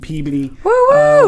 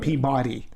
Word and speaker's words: Peabody: go back living in massachusetts growing up in peabody whenever there was thank you thank you for all you massachusetts out there and and people who know peabody and it's pronounced peabody not peabody screw all you peabody people anyway um for